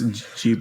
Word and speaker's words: Ghibli: Yeah, even Google says Jibli.